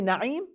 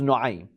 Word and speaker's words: Nu'aym: Some say Na'im, but probably the correct pronunciation is Nu'aym.